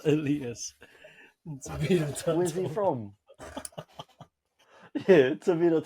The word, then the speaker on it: Elias: It's pronounced Elias.